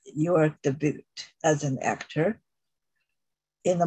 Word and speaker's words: debut: Because it's a French word and that U is pronounced U, so it's debut.